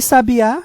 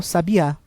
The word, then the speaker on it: sabiá: E sabiá, sílaba tônica no último A, é um substantivo que se refere a um animal, sabiá.